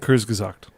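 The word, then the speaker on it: Kurzgesagt: Kurs Kurszact, that's how you pronounce it, right? Kurs Gazact.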